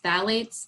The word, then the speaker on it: phthalates: Another ingredient that can be harmful is phthalates, another one that you're not going to see listed on the label. Phthalates, that's spelled with a P, probably seen P-H-T-A-L-A-T-E-S, I think it is, and that's a component of fragrance.